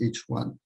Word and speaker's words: HI: Astronomers refer to the neutral atomic hydrogen as H1, H followed by the Roman numeral 1. It's pronounced as H1. So I'll, often say H1, and you should understand that as meaning neutral atomic hydrogen.